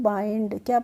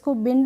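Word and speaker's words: bind: हमारा बी आई एनडी तो बी आई एनडी को हम पढ़ते हैं बाइंडर हैं बाइंडर बंड नहीं पढ़ते हैं बाइंडर हैं और बाइंडर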